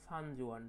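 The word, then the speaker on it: Xuanzang: about 1600 ইয়ার এগো সানজোয়ান দেখো এই উচ্চারণটা হবে তোমার সানজোয়ান ঠিক আছে দেখো সানজোয়ান হু কেম এরাউন্ড 1400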